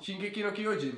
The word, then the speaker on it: Shingeki no Kyojin: Ne, vy tam hledáte strašně moc jako výslovnost nebo něco takového. Shinkeki! Ne, přištěte to normálně, úplně normálně. Shingeki! Shinegi! No? Shingeki no Kyojin.